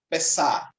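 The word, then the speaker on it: פסח: festa ajudarem a Páscoa vem da palavra Hebraica e pronuncia-se pessar e significa exatamente de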